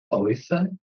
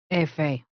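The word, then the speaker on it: Aoife: Is Oifa? Is that the pronunciation? Efe. I'm sorry. Miss Efe. What? It's Irish.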